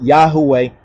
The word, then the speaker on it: Yahweh: yhwh you understand when we say tetr but Yahweh is the correct pronunciation of that the details of Suk the